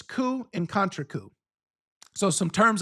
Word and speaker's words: coup: You've probably heard of these terms like and this the word this pronunciation of this word is coup.